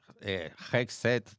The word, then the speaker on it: Hegseth: apellido de este señor muy bien cómo se pronuncia. Pete Hegseth. Está bien, tú que sabes de inglés, está bien dicho. Bueno, yo no sé mucho. Pete Hegseth.